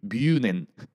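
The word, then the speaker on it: München: 이제 해설을 했는데 박주호 선수는 이 뮌헨을 뮤넨이라고 하더라고요. 뮤넨. 그래서 선수들이 근데 좀 더 그래도 그래도 좀 부드러운 발음 가깝죠. 아닙니까? 그리고 뮌헨 정도면? 조금 네. 실제로에 가깝죠.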